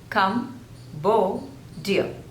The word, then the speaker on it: Cambodia: There are three syllables and the stress is on the second syllable, Cambodia, Cambodia, Cambodia, Cambodia, Cambodia.